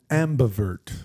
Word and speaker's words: ambivert: That's why I was Ambivert. pointing at myself when you said that. Can you spell it, please? Because it's AMBI right. vert. Ambivert. Like ambidextrous.